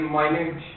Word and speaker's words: minute: Minute detail. Minute if you want to refer to 60 seconds, Minute. but if you want to refer to something that is very small, you pronounce it as minute.